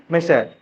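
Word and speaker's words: micelle: करेंगे मिशल मिशल formation Hindi में इसको बोला गया है तुम्हारा मिशेल बोला जाता है भाई इसको मिशल बन्ना यस यस यस तो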